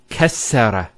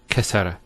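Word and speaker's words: كسّر: And you can actually feel it the way it's pronounced. Kassara instead of kasara. So once again, there's the kaf, followed by 2 scenes, and then the ra. So kas, skune, sara. Kassara, not kasara.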